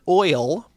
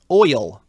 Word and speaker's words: oil: Is the word oil one syllable or two? Is the word what? Oil. O-I-L. Oil. It's one syllable.